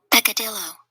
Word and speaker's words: peccadillo: Pronounced. Peccadillo.